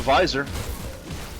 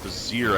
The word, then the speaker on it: vizier: Ah, it's a visor, supposedly. Or vizier, I guess is the proper pronunciation of it.